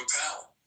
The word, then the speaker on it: Appel: I did intend with a ish ending to give a little nod to the ish movement started by Steve Appel, which rhymes with Steve Carell, and both funny intellectual